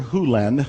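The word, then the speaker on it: Hew Len: dr len's world and it's actually dr hulen i've shortened it from e to dr len but it's actually dr hulen if you want to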